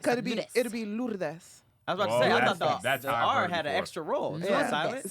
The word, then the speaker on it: Lourdes: Ludez? Oh, Ludez. No R? That's how you say it. R silent. In what? In Spanish. R? It could be. Ludez. It'll be Lourdes.